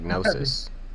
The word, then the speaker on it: gnosis: name with the G like gnosis the g is silent yeah man the G